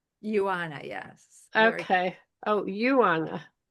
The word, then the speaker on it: Ioana: Um, Iona, did I say it right? Ioana, yes.